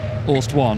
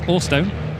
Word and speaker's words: Orstone: I couldn't figure out whether it was Orst 1 or Orstone, and it's Orstone.